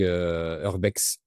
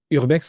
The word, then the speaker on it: urbex: Donc il doit y avoir des hashtags Urbex Urbex, on prononce? Oui, urbex. Urbex. En français, ouais, on dit urbex.